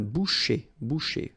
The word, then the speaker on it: boucher: C-H, un boucher. So I tend to insist a little bit, but then it goes like un boucher.